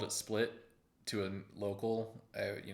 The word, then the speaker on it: Split: if I called it split to an local I you know be committing some crime yeah uh but no it's pronounced split just like it's spelled and Croatia was one